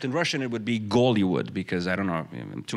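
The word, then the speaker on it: Голливуд: So, except in Russian it would be Gollywood, because I don't know, too much information, but they don't pronounce H in Russian. So a name like Hitler is pronounced Gitler. And Hollywood, Gollywood.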